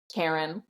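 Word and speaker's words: Charon: sticks in my head pronounced Karen and I agree pronounced Karen and the fact that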